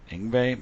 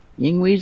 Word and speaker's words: Yngwie: And it was Ted Nugent, Yngwie, man, everybody was in this thing. Wow, Yngwie's in that?